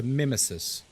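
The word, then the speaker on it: Mimesis: So imagine nemesis, but you have the word mimic at the beginning and you just cut it off a bit. So mimmesis.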